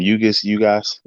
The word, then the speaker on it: Ugas: Ugas, Ugas.